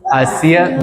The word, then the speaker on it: hacia: Hacia nosotros. Hey. Recall that the H is silent in Spanish.